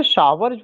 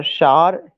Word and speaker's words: shower: शार वही जो हम लोग शावर कहते हैं ना, शावर गलत प्रोनाउंसिएशन है, उसका प्रोनाउंसिएशन SHOWER, शार। टार TOWER, फ्लावर FLOWER, फ्लावर नहीं होगा वो।